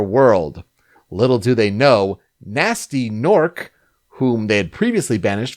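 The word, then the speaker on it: Gnasty Gnorc: We must note that Nasty Nork is spelled with G's at the beginning of it, so it looks like Ganasty Gnork, but it's Nasty Nork because he's half gnome and half orc.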